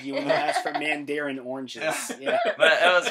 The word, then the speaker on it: Mandarin: i wrote until 2013 brad didn't know how to pronounce it either yeah exactly i was calling the man darren for about eight years so uh jared corrected